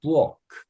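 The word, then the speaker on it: Burg: 부엌. 부엌. 우 다음에 이 모음 뒤에 알 발음은 약간 어 발음화로 조금 모음화가 된댔죠. 그래서 부크가 아니고 부엌 이 정도로 발음을 하고 이게 성, 도시 이런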